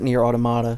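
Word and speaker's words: Nier: Automata: They pronounce it Nier Automata. So I was vindicated. I was right. It's Nier gosh dang Automata.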